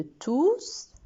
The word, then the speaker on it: tous: Et le S de tous est prononcé. Je dis, ils sont tous contents.